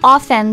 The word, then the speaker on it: often: But it is pronounced often. The、mm-hmm. T is often is silent.